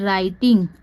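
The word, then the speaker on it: writing: कि कैप्ड उसके बाद डब्लू आर आई टी आई एन जी तो यह क्या हो जाता है राइटिंग क्योंकि इसमें डब्लू साइ और रा आई इसको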